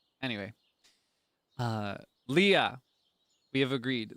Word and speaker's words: Leah: Leah. We have agreed. Leah.